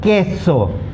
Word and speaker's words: queso: QUE has a K sound. Okay, and QUI has a key sound. Now please note here there's an exception to the rule of pronouncing each alphabet in the Spanish word. Okay, so QUE will not be pronounced que. Okay, and QUI will not be pronounced qui. Okay, this is an exception to the rule. So it's K and ki.